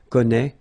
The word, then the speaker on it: connaît: Well, you pronounce these three forms the same way. Okay, connaît, connaît, and then connaît.